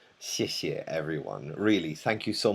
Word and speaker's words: xièxie: xiě xiè it's: "xie" xièxie xièxie The second "xie" is very "light" Toneless.